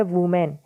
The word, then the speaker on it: women: इसके साथ ही टाइटल में एक वर्ड आया है WOMEN, जिसकी प्रोनाउंसिएशन होती है वुमेन, लेकिन जब भी ये स्पेलिंग WOMEN हो तो इसकी प्रोनाउंसिएशन क्या होगी? विमेन। ये बात ध्यान रहे थोड़ी सी।